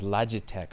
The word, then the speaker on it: Logitech: This is the Logitech K350, otherwise known as Logitech for some of you people that pronounce it wrong. It's the Logitech K as in cat.